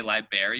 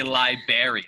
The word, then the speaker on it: library: you said you say library your library library library see that's the correct way to say it exactly but some people say libary they ignore and so I'm like